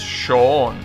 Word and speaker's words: Shion: letter makes no sense the pronunciation is shown or i mean i don't know if the pitch accent is shown or shown whatever regardless of the pitch accent it doesn't have a white sound in there i'm salty